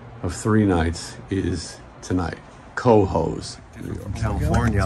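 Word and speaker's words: Cohoes: It's spelled C-O-H-O-E-S. That's Coho's. I don't know how you get peas out of hose.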